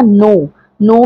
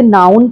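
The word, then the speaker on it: known: silent है similarly आपका नो नो में के और ब्लू साइलेंट है नो नो मतलब जानना न्यू नॉन बहुत से लोग इसे नाउन पढ़ने हैं और ये बिल्कुल गलत है इसे आप बोलेंगे नॉन हंसना में से कोई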